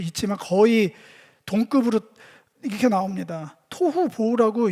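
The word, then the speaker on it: תֹהוּ וָבֹהוּ: 토후 보호라고 읽기도 좋게 그렇게 연달라 발음하기 좋게 그 단어들인데 그냥 일반적인 뜻은 형태도 없고 혼란스럽고 텅 비어 있다.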